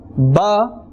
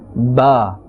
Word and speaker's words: ب: So Ba is pronounced from the wet part of both lips. Ba. Please do repeat it.